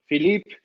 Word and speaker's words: Philippe: much random rambling uh philippe welcome to the show did they butcher your name and not say it right in in french no it was perfect okay perfect well phillip